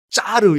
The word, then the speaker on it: 짜르: 이름 따 가지고 있으 이 저의 러시아 발음이 짜르 였거든요 그 말이 뭐냐 는